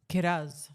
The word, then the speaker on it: Kiraz: The next player, I know you're interested in him, 605K, Jacob Kiraz. Kat, is it pronounced Kiraz? Kiraz.